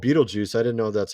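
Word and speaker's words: Betelgeuse: it was this uh star here it's called Beetlejuice I didn't know that's how you pronounce it though I was calling it Betto guise I didn't know how to pronounce I mean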